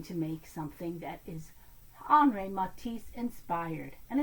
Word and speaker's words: Henri: Well, we're back in France again and we're learning about Henri Matisse. It's spelled Henri, but in French they don't pronounce the H the way we do. It's more Henri Matisse, the French artist.